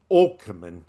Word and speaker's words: Åkerman: Malin Åkerman, because Mal in Mal Swedish, well, in Swedish, an A with an O on the top is pronounced O. H. So, Oh, okay. Åkerman.